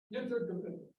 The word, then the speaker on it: Wintergewitter: W's are pronounced as B's. All right. Wintergewitter.